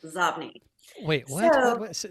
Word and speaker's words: Xobni: But by the way, that is inbox spelled backwards and it is pronounced Zobni.